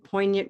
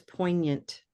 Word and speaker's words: poignant: So that was poignant. Poignant. Some of these words, all of them have a historical aspect to them. That's why they have silent letters.